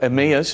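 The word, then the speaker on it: Emmaus: to Emma right or to emus as we sometimes pronounce it right so he can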